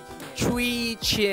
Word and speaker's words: Chwee Chian: So I pronounced wrongly. It's supposed to be Chwee Chian.